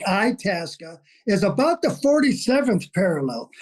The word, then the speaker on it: Itasca: The correct pronunciation is Lake Itasca, is about the 47th parallel.